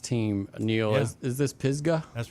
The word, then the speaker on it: Pisgah: And tell me how to pronounce this next team, Neil. Yeah. Is this Pisgah? That's right, Pisgah, and they're coming from the Jackson area.